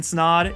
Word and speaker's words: Snaadt: My name's Snaadt, it rhymes with odd, and we'll see you in next week's video.